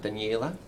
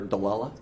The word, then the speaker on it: Daniella: a traditional Italian name Daniella that's nice but we had we had a neighbour out in the prairies who couldn't pronounce that so he just called her de ella Wow yeah so I